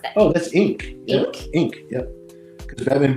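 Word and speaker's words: Inque: I don't know that I don't how to pronounced that oh that's Inc in Inc yep because Batman Beyond uh Inc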